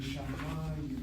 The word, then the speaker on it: shamayim: The accent is over the patach. The patach is not closed by dagesh chazak and the yud, so it's an open syllable, accented, and shamayim.